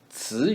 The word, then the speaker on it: 词: 词语, 词 is ts with vocal cord vibration in the second tone.